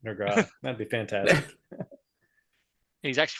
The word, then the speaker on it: Nurgle: It's pronounced Nergile.